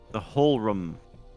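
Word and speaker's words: Hohlraum: The whole There's no C. The whole room. whole room.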